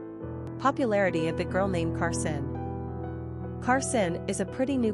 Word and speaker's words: Karsyn: But when you see it on paper as Karsyn, it just looks all girly girl. The irony is, of course, that the two names are pronounced exactly the same way.